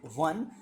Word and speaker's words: one: हालांकि जो वन है वो ओ से स्टार्ट हो रहा है, तो we don't pronounce it ओन, we pronounce it one, so we have to use a before this, a one eyed man, a 1 rupee note, is that clear?